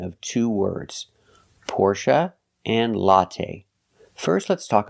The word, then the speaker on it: Porsche: Now, the last syllable is pronounced uh uh like cup and up.